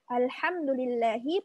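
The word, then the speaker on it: الحمد لله: contoh di Alquran ya di al-fatihah di awal ada kata Alhamdulillahi Alhamdulillah Alhamdulillahi pakai ha artinya segala puji bagi Allah kalau kita baca dengan ha Alhamdulillahi artinya segala kehancuran bagi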